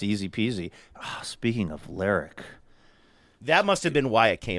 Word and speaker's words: Lerwick: I think I would say Lerwick. It looks like Lerwick. It's L-E-R-W-I-C-K. But on the show on Shetland, they always say Lerwick. Lerwick.